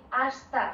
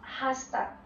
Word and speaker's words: hasta: Do you hear that I say hasta, not hasta? In Spain, H we don't pronounce. Okay? It's a difference. So, hasta pronto.